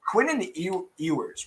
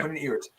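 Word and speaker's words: Quinn Ewers: Quinnen Ewers, right? Is that how you say his name? Yeah. Quinnen Ewers.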